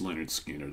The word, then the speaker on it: Lynyrd Skynyrd: album so this is all the recordings pre pronounced Leonard skinnard I highly recommend you check this out because